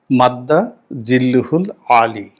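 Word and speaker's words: مد ظله العالي: কিন্তু সালাউদ্দিন সাহেবের মতো মানুষ যখন মাদ্দা জিল্লুহুল আলী, উচ্চারণটা এরকম, তো খতিব এবং ইমামদের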